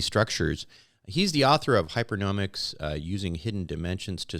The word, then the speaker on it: Hypernomics: uh to everyone yeah uh hyperic that's how we pronounce it is a a